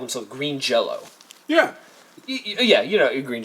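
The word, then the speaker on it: Jellÿ: But the Y has an umlaut, like those two German dots over the Y, and they say it's pronounced Jello, but it's spelled jelly.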